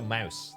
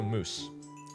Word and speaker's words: mousse: we go a potato mouse that's it actually it's pronounced moose it's a potato mousse there we go what